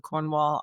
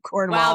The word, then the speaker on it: Cornwall: lives in Cornwall, and to bring that second syllable down into the deep recesses of your throat so you hardly say it. You sort of mumble it out.